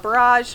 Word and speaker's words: borage: over here we've got the borage which is actually or you can call it barrage however you want to pronounce it as you can see